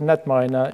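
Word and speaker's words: KnetMiner: a software tool called netminer it stands for knowledge network minor the K is silent and it's a web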